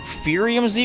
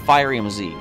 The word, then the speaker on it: Firium Z: What would you pronounce that as? Furium Z or Firium Z? I'm going to go Firium Z, allowing for a Fire-type Z move.